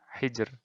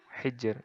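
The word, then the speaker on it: حِجْر: Nah, ro-nya di akhir ini. Bacanya tipis. Hijr. Sihr. Sihr. Hijr. Nah, kayak gitu. Jadi, tipis saja. Tidak ditebalkan.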